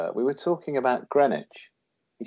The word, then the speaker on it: Greenwich: I was working with a TV director from Utah, and he said we were talking about Greenwich. He said, "Where's Greenwich?" And I said, "You don't pronounce the W, moron."